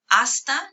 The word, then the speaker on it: hasta: Hasta, you notice the H is silent because in Spanish, H's aren't pronounced.